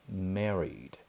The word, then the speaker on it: married: Apesar de estar escrito aqui, ó, married, talvez você leia em português assim, mas a pronúncia correta é married.